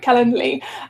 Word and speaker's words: Calendly: from happening i use calendly say it right calendly which is just ten dollars a month um